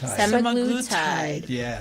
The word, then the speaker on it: semaglutide: you are but yeah sem sem sem glutide semaglutide so that's how you say it guys if